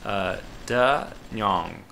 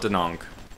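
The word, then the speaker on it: Da Nang: Oh, I finally looked up how to pronounce this. It's Da Nyong, something like that. So we can call it Danong because that's an Americanized version, but closest to the real thing.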